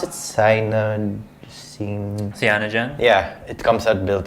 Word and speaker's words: Cyanogen: And then the UI, I think, is how do you pronounce it? Cyanogen.